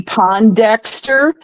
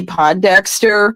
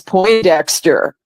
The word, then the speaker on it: Pondexter: Remember when Cappy Pondexter was on the New York Liberty and Bill Lambier was the coach? Yeah. Well, I had mispronounced the name as Poindexter, and Bill Lambier looked